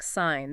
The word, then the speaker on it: sign: Or words starting with y like gnome, knack, sign. That g is typically silent. Gnome, sign.